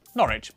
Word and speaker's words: Norwich: Leicester, Worcester, Gloucester, W at the start of the final syllable is silent. Norwich, Berwick, Southwark.